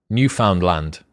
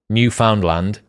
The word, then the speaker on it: Newfoundland: have you been to or said the word newfoundland and if so i'd bet 10 000 subscribers